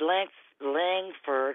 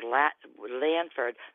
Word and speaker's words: Langford: I've heard your pastor, David Langford or Lanford. I'm not sure exactly how you pronounce it. Langford.